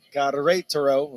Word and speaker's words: Querétaro: The Mexican side, you pronounce it Querétaro. Again, the accent's on that R-E, that second syllable.